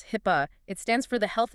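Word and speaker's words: HIPAA: hip uh security rule hip uh is that pronounced hip yes hip it stands for the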